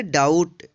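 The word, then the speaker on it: doubt: डी ओ यू बी टी, इसको पढ़ेंगे डाउट। डाउट means होता है शक। यहाँ पे देखिए टी से पहले बी आया है, इसलिए यहाँ पे बी का उच्चारण नहीं हुआ है, यानी बी जो है साइलेंट है।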